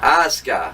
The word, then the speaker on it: Asuka: This is SmackDown Women's Champion Charlotte Flair against Asuka, or whatever the hell you pronounce her name. Asuka, that's it.